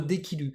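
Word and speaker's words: 出来る: tard du coup bah D qui on rajoute ru ça nous fait notre déquilu donc encore une fois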